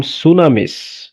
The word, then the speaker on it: tsunamis: From সুনামিস, দেখো সুনামি বানানটা দেখো, TSUNAMIS, সুনামিস, ওকে।